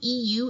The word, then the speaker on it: eu: one of equilibrium you EU is pronounced you this is true or